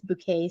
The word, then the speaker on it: Bouquet: And it's Bouquet spelled like bucket, right?